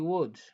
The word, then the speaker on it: would: I would donc kenn du wax would, donc kon we don't pronounce the L, okay?